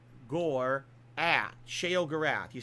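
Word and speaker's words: Sheogorath: Shay O Gore at Shay O Gorath.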